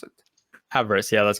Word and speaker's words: Avarice: How do you pronounce it? Avarice, yeah, that's correct.